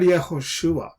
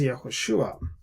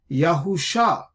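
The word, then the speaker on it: יהושע: Now let's look at this word Yahushua, right? So this is how it is pointed. These are the dots and dashes that are there, the nikud that make us read this word as Yahushua.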